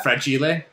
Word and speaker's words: fragile: once earlier but uh fred chile yes i was going to ask you how you pronounce it fragile it must be italian it's not french people often throw french in there it's italian yes thank